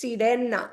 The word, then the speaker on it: sirena: You have to roll your R to say it. It's Sirena.